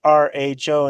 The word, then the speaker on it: RHO: Ram says it's the RHO, and that's how it's to be pronounced.